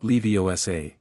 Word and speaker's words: Leviosa: The emphasis is on the O. Harry said wing jar. I am Leviioa, not Leviosa.